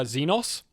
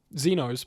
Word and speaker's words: Xenos: As an aside, uh some people pronounce it uh Zenos.